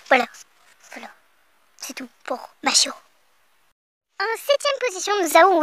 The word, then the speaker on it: Mashiro: Mashiro, en fait, c'est comme... une machine.